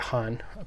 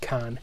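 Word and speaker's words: Khan: Both have Cynthia Han. I'm reliably informed it's not pronounced Can, even though that's how it's spelled, Cynthia Han.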